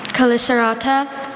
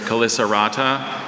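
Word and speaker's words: chelicerata: Caliceratta, are there any alternate pronunciations? There's Calicerata, Calicerata.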